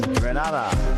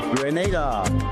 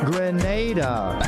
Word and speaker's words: Grenada: So today, like we German say, we are in Granada, but I heard in English it's called Grenada. Say it right. Grenada.